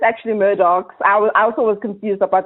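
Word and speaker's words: Murdaugh: Yes, some people think it's like murder, like Murdo, but it's actually Murdochs. I also was confused about the pronunciation, but it's actually the Murdochs' death in the family.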